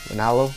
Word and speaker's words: Ranallo: Ranallo? Yeah, that's how you say it.